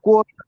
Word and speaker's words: Kolkata: How do you properly pronounce it? Calcutta? Kolkata. Actually, now it actually Kolkata.